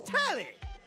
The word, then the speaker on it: Telly: The name's Tally. Rhymes with Nelly.